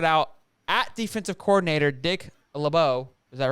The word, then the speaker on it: LeBeau: Later came out and said Brown shouted out at defensive coordinator Dick LeBeau. Is that pronounced correctly?